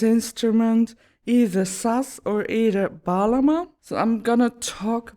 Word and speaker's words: bağlama: time it has been decided to call this balama and that name comes from the turkish verb balamac yeah the g in balama is silent so